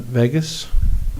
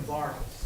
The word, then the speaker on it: Vargas: Chairman, and the first is Edwin Vegas. No, Edwin Vargas. Vargas.